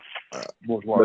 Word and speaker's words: bourgeois: problems of the oppressed class, namely the petty bourgeoisie. Bourgeois.